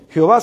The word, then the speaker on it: Jehová: Lo otro es válido y se ha usado por los siglos. Jehová se ha usado por